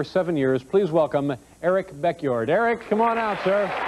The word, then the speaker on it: Beckjord: years please welcome Eric beckyard Eric come on out sir hi Eric hi nice to see you how are you pretty good your last name is pronounced backyard b-e-c-k j-o-r-d as yes